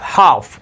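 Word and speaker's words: half: مثلا وایو اچ ای ال اف هاف د ال حرف تلفظ نشو.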